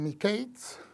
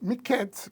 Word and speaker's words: Miketz: Algunos pronuncian Miketz, pero Miketz, que significa al fin.